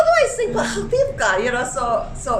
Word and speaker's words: Petah Tikva: So it's Petah Tikva. And of course, I have to sing it. Kailangan ng So- mutusolba. So you're like, how do I sing Petah Tikva?